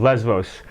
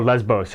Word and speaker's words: Lesvos: people doing volunteer work on the island of Lesvos, or Lesbos, it can be pronounced either way, just off the Turkish coast.